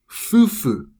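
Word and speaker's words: 夫婦: And this word is pronounced as fufu.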